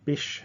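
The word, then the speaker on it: Bysshe: our list is Percy Bish Shelley so the middle name is pronounced like fish um and the life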